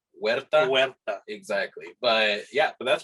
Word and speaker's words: Huerta: yeah was that like so in spanish like the h is silent so it's more like huerta exactly but yeah but